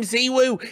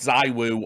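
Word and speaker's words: ZywOo: loads of threads going why does richard call him zewo he is not chinese that's not his name that's literally how every french person i have spoke to pronounces it zee woo himself has never said zai wu or zee woo right but every french player i've talked to says or whatever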